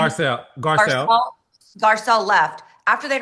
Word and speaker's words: Garcelle: Garcelle.